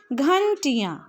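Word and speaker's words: घंटियाँ: इसका उच्चारण सीखते हैं तो घ के ऊपर अनुस्वार ट में हरसई की मात्रा य में आ की मात्रा और ऊपर चंद्र बिंदु अर्थात अनुनासिक तब इसे हम पढ़ेंगे घंटियां हमारी क्या खुलती है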